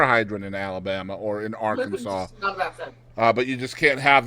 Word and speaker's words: Arkansas: So in Arkansas, Arkansas must be pronounced Arkansas. That is on the books. You can't say Arkansas or Arkansas, or it has to be Arkansas.